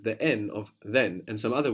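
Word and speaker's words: δεν: together then fani actually in standard Greek you will hear the N being dropped so it's not incorrect to say then but you'll notice in Greek that before some letters the N of then and some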